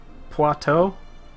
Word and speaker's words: Poitou: Think like you were trying to say you, but with a T instead of you.